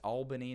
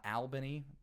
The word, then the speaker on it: Albany: game against Albany which I learned I've been mispronouncing apparently it's it's Albany not not Albany which is I believe what I said when